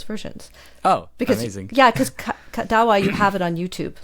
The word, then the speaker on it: Kadawa: How do you pronounce it? Yeah, KADAWA. KADAWA.